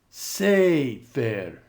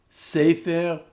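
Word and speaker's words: סֵפֶר: And notice the accent is now on the syllable before the e. Melech. Sefer. Boker. Mamlechet. Ketovet. Now read these a little more quickly. Melech, Sefer, Boker, Mamlechet, Ketovet.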